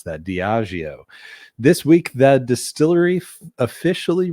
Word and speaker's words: Diageo: Man, I always got to think about how to pronounce that. Diageo.